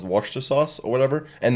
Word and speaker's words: Worcestershire sauce: time to to learn to that it was pronounced Worcester sauce or whatever and not Worchester Shire sauce is it not pronounced poor Chester Hsieh Worcestershire